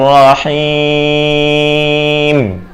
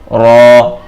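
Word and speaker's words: ر: জাল জাল জাল জাল র র র র অনেকে এটাকে রা পড়ে রা পড়া যাবে না সহি শুদ্ধ উচ্চারণ হচ্ছে র র র র র র র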